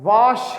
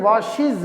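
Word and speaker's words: washes: वॉश के एंड पे क्या आया? एस एच, लिहाजा हमने ई एस का इजाफा कर दिया और इसकी प्रोनाउंसिएशन वॉशिज होगा, वॉश नहीं होगा, वॉशिज।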